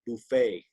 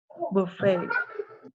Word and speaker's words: buffet: just this one word buffet you don't pronounce the t on the end of it buffet buffet hey yeah we have